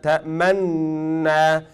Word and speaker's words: تأمنا: You will just pronounce one noon, but you will do dhamm with your lips.